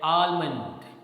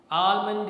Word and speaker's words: almond: Here the sound l is not spoken, right? So don't say almond. Almond is wrong, but when you say almond is correct.